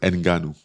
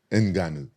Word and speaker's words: Ngannou: oh these year this how I thought you pronounced it enanu oh I'm not even saying it right enanu oh my bad like that was deep voice enanu okay better so if I had don't be